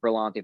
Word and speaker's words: Berlanti: i i know they brought in berlanti greg berlanti that's how you say his name from the